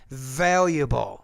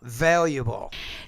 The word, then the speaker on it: valuable: lesson number fourteen but be careful when the v's in the beginning of the word not a-- you want to pronounce that with more vibration valuable valuable to make me speak